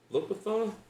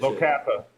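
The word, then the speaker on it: Locathah: Locathon? How do you say that? Locatha.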